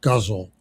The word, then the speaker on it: ghazal: It's spelled g h a z a l, but it's pronounced guzzle.